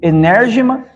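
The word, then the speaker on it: ἐνέργημα: E operação se lê enérgema, maravilha é dunamis.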